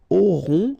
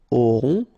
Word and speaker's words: auront: Then, ils auront, final T not pronounced, O-N together, on, auront, okay, and then the link between the two, ils auront, elles auront.